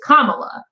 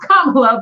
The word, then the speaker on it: Kamala: To the Indian people, it is not pronounced Kamala, but to everybody, if that's how she wants to pronounce it, it's Kamala, but that's technically not how it's supposed to be pronounced.